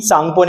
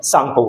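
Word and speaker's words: Tsangpo: क्या कर सकते हैं इसमें टी जो है बेटा वो साइलेंट होता है एंड एस ए एन जी पी ओ सांगपो इज़ the spelling of इट ठीक है तो टी सांगपो नहीं बोलेंगे हम इसको टी साइलेंट सांगपो बोलेंगे ऑलराइट जैसे ही ये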